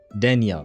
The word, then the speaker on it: Denia: Denia. Denia. That's how they say it.